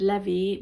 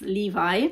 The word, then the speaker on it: Levi: In Italian, we pronounce it Levy, but I guess in English is Levi.